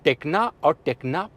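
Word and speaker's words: Tekna: एसेंटा और इसके बाद में एन कनेक्टा और टेक्ना प्लस, ये इसके वेरिएंट इस तरीके से प्रोनाउंस होंगे।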